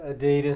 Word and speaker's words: Adidas: of Adidas whatever Adidas Adidas actually you say it closer to the Germans the Germans have a slightly different emphasis on one of the syllables I can't remember what that is right now but yeah Adidas is closer to the way the Germans say it that's where the brand comes from so ding ding